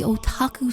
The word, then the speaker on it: otaku: I was in my cringe anime phase at the time and named it the Otaku Special.